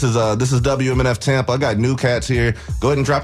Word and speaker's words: Gnu Kats: But as a team, we are the New Cats. New Cats, baby. It's spelled GNUKATS on everything.